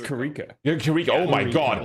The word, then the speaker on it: Kiriko: It's Kiriko.